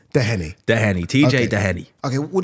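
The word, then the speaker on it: Doheny: I've heard so many different pronunciations. And it's Dehenny.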